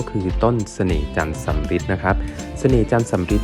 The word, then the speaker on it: สำริด: เป็น มงคล นะ ครับ ชื่อ จันทร์ สำฤทธิ์ เนี่ย เขา สะกด ด้วย อ่า ส เสือ สระอาด ร เรือ สะอิ ด เด็ก นะ ครับ แต่ ว่า มัน ดัน ไป พร้อง กับ คำ ว่า สำฤทธิ์ ที่ แปล ว่า ความ สำเร็จ นะ ครับ ก็ เลย